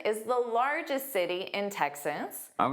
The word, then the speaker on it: Texas: Houston is the city and Texas is the state. So notice that first sound is exactly like tech, high tech, the tech industry.